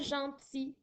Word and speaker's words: gentil: Gentil au masculin s'écrit G-E-N-T-I-L. Alors, c'est assez rare que l'on voit un L à la fin qui est muet, mais ça peut arriver, comme dans le mot gentil.